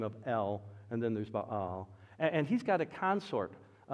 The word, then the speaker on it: Baal: No, normally we call it Baal. It's pronounced Baal.